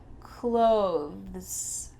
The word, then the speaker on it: clothes: You might see some tutorials on YouTube where they say you should use a TH sound there. Clothes. With a little TH in there. You can say that, but when native speakers are speaking quickly, we just say these 2 words the same.